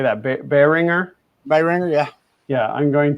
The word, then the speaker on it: Behringer: Behringer.